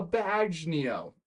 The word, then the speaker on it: bagnio: He also owned a Bagnio, I think is how you say it, which is a brothel.